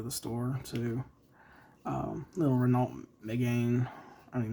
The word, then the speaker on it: Renault: And uh I basically did the a metallic version of the Renault. I call it Renault. It's think I think it's actually pronounced Renault. Um why they would put a L in there.